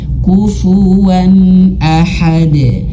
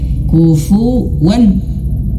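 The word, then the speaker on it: كُفُوًا أَحَدٌ: Tak ada dengung. Kufuan ahad. Enggak boleh kufuwan.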